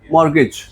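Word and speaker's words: mortgage: क्या बोल रहे है इसमें टी साइलेंट है जी ए जो है इसकी तुम साउंड दोगे जीई की ठीक है और जी ई जो है इसकी साउंड दोगे तुम जे की ठीक है तो क्या बनेगा मॉर्गेज क्या बनेगा टी साइलेंट है मॉर्गेज इसे क्या बोला जाता है मर्ज बोला जाता है और उसने यहां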